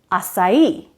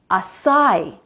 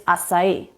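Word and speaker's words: açaí: come on this one is written with stress on the last syllable its acai not acai do you know this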